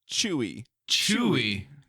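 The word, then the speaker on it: Tzuyu: name is no NOP no not Zoo chewy chewy yeah chewy chewy like chewbaca all right let's listen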